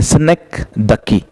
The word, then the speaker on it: synecdoche: synecdoche is a proper pronunciation of this. कुछ लोग इसको synecdoche बोलते, कुछ लोग इसको synecdoche बोलते. Okay, but these are all wrong pronunciation.